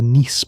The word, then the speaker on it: Nice: This became especially influential through versions of what is known as the Niss model, named after the city of Nice in France, where some of the researchers worked. It is pronounced like the city.